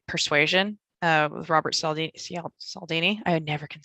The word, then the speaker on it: Cialdini: But from a marketing perspective, probably a biggest fan of like Persuasion with Robert Cialdini. I never can say it right. Cialdini.